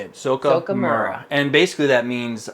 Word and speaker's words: Zoukei: going trying and say it right it's it's zoka zoka mura it's how you say it zoka mura and basically that means um a modeling